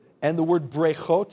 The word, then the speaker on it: breichot: We have here, what they've done is they've taken v'nivrechu, say v'nivrechu, and the word brechot, say brechot.